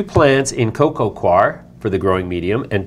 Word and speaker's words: coir: we're going to grow 2 plants in coco coir for the growing medium and 2 plants in pure carbons. I know how to spell coir. Well, C-O-I-R.